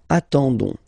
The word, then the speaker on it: attendons: Okay, but then nous is coming here, all right, and then we've got the classic ending for nous, so O-N-S, okay, you don't pronounce the S, so you get only this on sound, okay. Attendons, nous attendons, so we'll